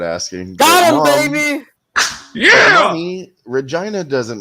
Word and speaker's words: Regina: the town sign and everything the city that rhymes with fun Regina but then you know we we got all